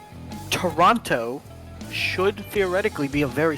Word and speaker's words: Toronto: lot of people say tarana I don't know why But they ignore the o and replace it with like an a so instead of Toronto